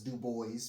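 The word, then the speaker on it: Du Bois: He pronounces as Dub Boys because he wanted to uh knock off the French side, you know, the sound.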